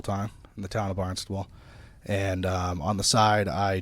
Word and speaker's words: Barnstable: Well, let's get into Barnstable PD, and can you talk about that city and that department?